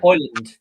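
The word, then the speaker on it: Højlund: I do rate um um how do you pronounce this one Rasmus hland yeah hland yeah I have been saying it right then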